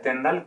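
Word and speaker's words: Tyndall: como el efecto tendrán se escribe tiendan pero se pronuncia tendal con él y eso corren porque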